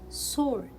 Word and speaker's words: sword: words in english and we can see letter w in all these words but we will not pronounce it because it is a silent letter so by learning silent